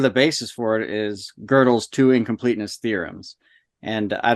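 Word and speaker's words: Gödel: best as you can girdle girdle oh girdle that's a g um loud so it's good that is true I've been saying it wrong for so many years you never corrected me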